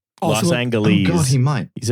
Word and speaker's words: Los Angeles: I'm used to like there's two ways of pronouncing it. One of them right, one of them wrong. Los Angeles, the way everyone who, you know, lives there pronounces it. or Los Angeles. Los Angeles, California. This guy fully just like removes a syllable.